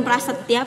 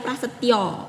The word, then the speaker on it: Prasetyo: Kan orang Jawa biasanya Prasetya tuh Prasetyo. Iyo. Prasetyo, bro. Jadi bukan Prasetya, Prasetyo.